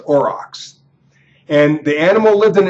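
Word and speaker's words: aurochs: spelled a r o c HS but is pronounced orox and the animal lived in an area now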